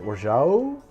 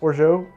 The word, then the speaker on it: orgeat: Is it orgeat? Orgeat? Orgeat? Orgeat, French orgeat. I have had different people from different places in France tell me different answers. I think it's extremely regional.